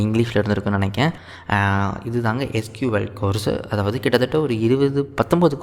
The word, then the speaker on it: SQL: SQL இன்னுமே வந்து ஒரு சீக்வல்னு ப்ரொனவுன்ஸ் பண்ணுவாங்க.